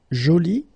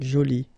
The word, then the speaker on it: joli: So basically the two adjectives, masculine joli and feminine jolie, are pronounced the same way.